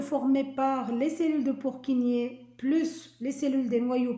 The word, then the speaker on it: Purkinje: Donc, ça s'écrit Purkinje, mais ça se lit Purkinje, les cellules de Purkinje.